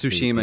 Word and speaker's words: Tsushima: know if you guys played ghost of uh two shima or shusham i don't know how to pronounce tsushima yeah yeah thank you um i should know